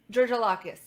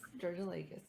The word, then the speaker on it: Georgoulakis: Yes, Georgoulakis. Yep, that's pretty close. It's like Pretty Georgia close. like the state of Georgia, and then, Georgoulakis.